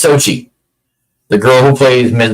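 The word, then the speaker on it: Xochitl: to be tight, it's Sochi, the girl who plays Ms. Marvel on the Marvels. Sochi, whatever her name is, it's Sochi is how it's pronounced. It's not spelled how I'm saying it.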